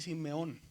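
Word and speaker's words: σημεῖον: Entonces, la pronunciación es desaparece la i y se dice Simeón.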